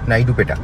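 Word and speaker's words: Naidupeta: আছে আমি একবার দেখে নিই আমি একবার আমি উচ্চারণ করলাম ঠিকঠাক করে বলবো বলে এন এ আই ডি ইউ পি ই টি এ নাইডুপেটা ওকে তো এইটা হচ্ছে বাইপাস এই বাইপাস থেকে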